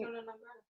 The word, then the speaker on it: persona non grata: Yeah, I'm saying Persona it, non grata.